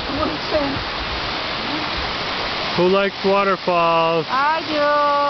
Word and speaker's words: Munising: Munising. Munising.